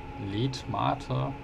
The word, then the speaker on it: Letmathe: Genau, ne, also Letmathe. Das heißt aber interessanterweise Mathe wie in Mathematik. Wird da gleich genauso geschrieben, aber dann anders ausgesprochen.